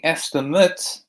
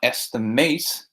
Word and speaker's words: estimate: it so by saying estimate and not estimate what I'm signaling there is that I'm using the noun it's still spelled the same way it's just pronounced a little bit differently so here we should